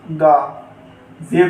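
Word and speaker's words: غازی: तो इसकी जब हिज्जे करेंगे हम, तो गैन अलिफ गा, जे छोटी ए जी, गा जी।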